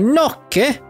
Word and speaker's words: gnocchi: Gnocchi? Gnocchi recipe? That's how you pronounce that, by the way. Gnocchi?